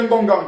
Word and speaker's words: Ngonga: Pourquoi vous mettez mon nom à chaque fois, vous écrivez Ngongang? Je ne suis pas Bamileke, c'est quoi cette histoire? Je m'appelle Ngonga. Ngonga est précisé à chaque fois.